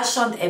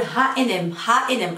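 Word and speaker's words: H&M: جايز كيف عم تنطقوا اشاند ام، لانه نحن بالمغرب عم نقول اشاند ام لانه بالفرنسي. بالمانيا بظن انه عم يقولوا هنا اتش ان ام اور ها ان ام اي ثينك ها ان ام.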